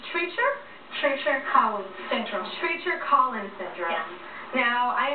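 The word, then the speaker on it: Treacher Collins syndrome: So, give me the pronunciation. It's Treacher? Treacher-Collins syndrome.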